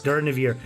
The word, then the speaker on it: Durnehviir: Durnehviir. Yeah. See, I can pronounce it properly now.